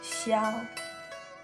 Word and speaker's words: xiao: But it should be xiao, xiao in Chinese.